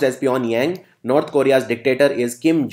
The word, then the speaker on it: Pyongyang: And it's pronounced as Pyongyang.